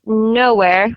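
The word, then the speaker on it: Knowhere: It's a fantasy novel called Nowhere, but it's spelled with a K at the start. So it's k n o w h e r e.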